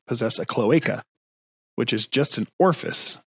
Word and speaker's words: cloaca: us guys i mean it's pronounced cloacia like shimura no it's a cloaca oh jesus christ it's cloaca what the [ __